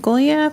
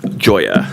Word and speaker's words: Goya: Our next speaker is Goya, followed by Monica Richardson. Feel free to correct your name for the record. Uh, it's it's Goya. Goya, but but Goya is a good pronunciation, too.